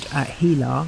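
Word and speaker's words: HeLa: It's now called Hila. I don't know whether you say it like that but it's spelled H E L A.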